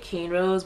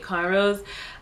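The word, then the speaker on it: cornrows: a conro updo um you guys may pronounce it can Rose but in the Caribbean we pronounce it conrose um potato potato tomato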